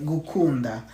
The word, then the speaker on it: gukunda: Okay, gukunda.